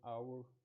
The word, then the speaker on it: hour: The word hour comes from French, and in French language there's a rule which leaves out the H sound in some words.